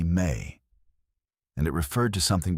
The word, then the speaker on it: me: The word was me, pronounced roughly may and it referred to something between a law and a power and a principle.